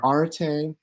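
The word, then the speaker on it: aretē: to introduce you to are arte clayos and temi that's how you pronounce those things right and let's imagine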